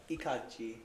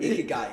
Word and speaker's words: Ikigai: And it's actually calling back to the Ikaji, if you guys ever heard of that philosophy. No. So there's a philosophy called Ikaji. I don't know if I'm saying it right. Ikigai? Ikigai. Yeah, there we go.